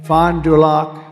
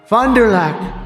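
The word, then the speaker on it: Fond du Lac: earlier this year in Fond dulock Wisconsin fonderlac nice I love these names I wish I could give me a little easier name she just uh they told me that's the way you pronounce it so I hope I got it right but an illegal alien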